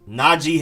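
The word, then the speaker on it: Najee: back na g harris naji harris and apparently it's not g not naji najib naji harris i've been saying naji this whole time next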